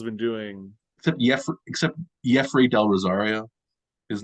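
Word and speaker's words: Yefri: doing except yeah except Jeffrey Del Rosario his name is pronounced Jeffrey even though it says like Jeffrey so I assume that means it's pronounced Jeffrey even though it's y-e-f-r-i really yeah interesting so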